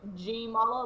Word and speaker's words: Jamala: So, I've had a couple people say it like jokingly, but most people like it's kind of spelled the way it sounds. And I usually say like G Mala, like the letter G.